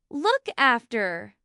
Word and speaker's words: look after: Again, the stress is usually on the particle after. Look after.